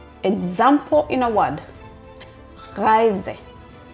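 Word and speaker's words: Reise: The German R is pronounced from the throat and not with the tongue R. Example in a word rise. Rise.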